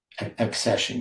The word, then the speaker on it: accession: That is you you have an assession year accession year. Accession. How do you say that? Accession. It's not ascension, right?